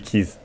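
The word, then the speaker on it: Keyes: Ça s'écrit Kayes, mais ça se dit Keys.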